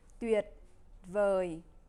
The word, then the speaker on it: tuyệt vời: Cela se prononce tuyệt vời, tôi cảm thấy thoải mái ở đây.